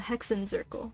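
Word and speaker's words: Hexenzirkel: the Mages of the hexen zerle ah the hexen zerle okay that's how you say it hexen zerle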